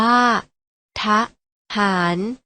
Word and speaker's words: ทหาร: นะ คะ ปะ ปฏิบัติ ทหาร ออก เสียง ว่า เทฐาน มา ออก เสียง คำ